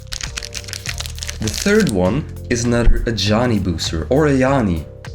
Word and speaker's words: Ajani: The third one is another Ajani booster, or Ayani. We pronounce it Ayani because it's Dutch, right? We speak Dutch in here. So we say Ayani, but it might be Ajani.